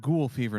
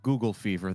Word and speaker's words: ghoul fever: a privy that and that's pronounced ghoul fever not Google fever that's an entirely different